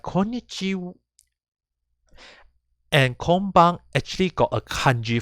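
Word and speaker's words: こんにちは: so in this case actually pronounced as konichiwa and konbanwa but because for there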